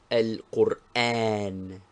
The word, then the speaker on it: القرآن: Be careful to pronounce it thus. Al-Qur'an.